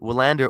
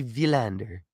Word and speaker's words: Willander: Uh, Shane in the comments asking, "Is it Wanderer or Vander?" It's supposed to be Vander V.